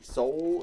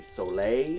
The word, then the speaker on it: Soule: I don't know if it's Jeremy Soule or Jeremy Soleil. It's Soul. It's Soul with an E on the end.